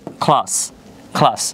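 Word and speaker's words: class: সি এর পরে যদি এল লেটার থাকে তাহলে হচ্ছে আমরা খয়ের মতো উচ্চারণ করব, পাশাপাশি এল এর পরে আবার এও আছে।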